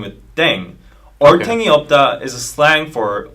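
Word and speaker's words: 땡: playing with language now the pronunciation of deng is similar to thang which is the slang of thing in english right last but not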